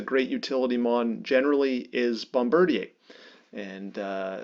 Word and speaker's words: Bombardier: utility mon generally is Bombardier and uh I'm going to use the Canadian pronunciation of that because it sounds like Canadian company Bombardier and bombard thanks Frey uh Bombardier fills